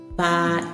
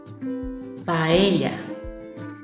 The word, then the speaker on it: paella: idea to make a video to practice your pronunciation first word paa paa paa paa is a Spanish rice dish originally